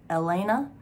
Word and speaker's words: Yelena: um elena's being pronounced elena even though it starts with the y but no it is pronounced with a y elena um and sebastian